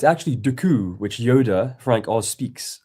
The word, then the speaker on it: Dooku: Why do we keep calling him Count Dooku? So Count D So it's actually Duku which Yoda Frank Oz speaks and pronounces properly.